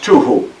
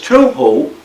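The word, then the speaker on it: תֹּהוּ: I believe it would be pronounced tuhu. But this tuhu means that, literally, it will be a wasteland.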